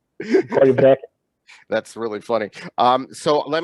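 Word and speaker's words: Corryvreckan: Korivrekken. Okay. Yeah, you got to roll the R.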